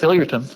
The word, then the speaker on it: Hilliardton: this name at the hilly arton Marsh is that is that how you say it Bruce it's pretty close hillerton okay I've never I'm